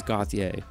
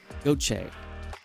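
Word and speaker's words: Gauthier: without doing my homework I thought it was gothier but it's actually cutter goche go go Trey goche yeah go like go Jay cutter goat Shay I mean maybe I'm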